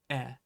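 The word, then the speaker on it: へ: Anyway, the point that I'm trying to make is that in uchi e iku, that he, it looks like he, but it's always going to be pronounced e.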